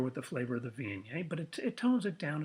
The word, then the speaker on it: Viognier: And as a matter of fact, it's kind of hard to pronounce. So we do kind of like the village people. We go Viognier. Viognier.